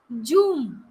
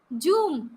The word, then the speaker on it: zoom: then we have zw i have listened people who pronounce it as joom zoom and it's not their